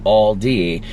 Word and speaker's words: Aldi: airport okay regarding the Aldi question did you know it's a German chain I pronounce it like Aldi when I'm speaking English but I guess it sounds a bit more like Aldi and German my German husband and